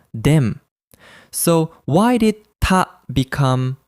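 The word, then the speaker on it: 田: The kanji is usually read as Ta, like in Yamada. However, in this word, it is pronounced Den.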